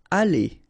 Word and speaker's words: aller: Aller, okay? R at the end, when you combine then, you pronounce it E, aller.